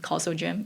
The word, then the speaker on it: CausalGym: To build on that you had a paper in 2024 on Calso gym. Is that the correct way to pronounce it?